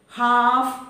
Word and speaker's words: half: If L comes between A and F, again L is silent, as in half and calf.